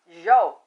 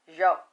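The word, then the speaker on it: Zhou: And the Zhao, but it's spelled Z H O U, but it's pronounced Zhao.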